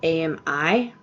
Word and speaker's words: Ami: My name is actually Amy, but it's spelled A-M-I, and it's actually pronounced Ami in French.